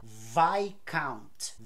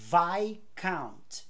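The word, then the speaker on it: viscount: essa palavra se fala vai count vai count não se fala o s assim como não se fala o s em Island a e debr que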